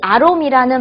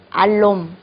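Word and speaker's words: อารมณ์: 주시지 그럴 수도 있는데요 사실은 아롬 아롬이 맞습니다 근데 이게 태국 말에서는 러아 이렇게 발음을 굴려야 되는 리을이 때문에 태고 사람들은이 굴리는게 귀찮아서 그냥 알롬 이렇게들 많이 얘기를 하죠 그러나 사실은 롬이 아니고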